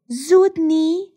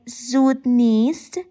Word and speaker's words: زود نیست: The next one, zudni, or better to say zudnist. This is a question and means, isn't it soon? As you see, the word nisten here contracted to the word ni.